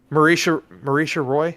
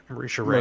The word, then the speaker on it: Marisha Ray: Marisha Roy, is that how you say her name? Marisha Ray. Marisha Ray, yeah. That's Ray.